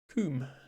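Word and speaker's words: cwm: But the difference is that W can be a vowel in Welsh. As in this word, which is actually in Scrabble, even in the English Scrabble dictionary. Pronounced coom.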